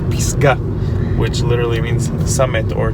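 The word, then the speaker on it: פסגה: In Hebrew, you pronounce it Pisgah, which literally means summit or top of a mountain.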